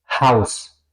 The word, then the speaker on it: Haus: La H, una gran diferencia es si es al principio de palabras, como por ejemplo en hallo, eso sería hola, se pronuncia, ¿ok?